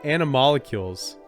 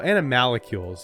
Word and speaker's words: animalcules: holiday with Mary yeah anim molecules well animalcules there's an a there but anim molecules works